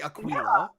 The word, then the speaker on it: Aquila: Aquila. Is that what it was? Aquilar. Aquila. Aquila. They definitely used a Q sound. It was definitely Aquila.